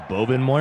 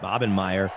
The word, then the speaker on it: Bobenmeyer: So it's weird that you pronounced it correctly because everyone says Bobenmeyer because that was written, but it's pronounced Bobenmeyer.